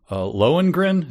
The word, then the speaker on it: Lohengrin: Lohengrin, is that how you pronounce that?